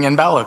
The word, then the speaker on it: Imbala: have to say uh thanks for pronouncing imbala correctly because that's often uh and everybody says in bala and i even sometimes